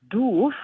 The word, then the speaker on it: doof: is very hilarious, because doof, written the way it is, but pronounced doof, is like a word for to be stupid or daft.